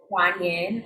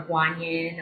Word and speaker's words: Guan Yin: So one is Guan Yin or Guan Yin, or just kind of depending on how you pronounce it.